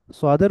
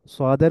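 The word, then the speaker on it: ص: সোয়াদের উচ্চারণটা একটু এই যে এখানের মধ্যে লেখা আছে দেখেন, এস এর পর ডাব্লিউ দিলে যেরকম হয় কিছুটা এরকম। সোয়াদ, সাদনা, সদনা, সোয়াদ, সোয়াদ, এরকম উচ্চারণ।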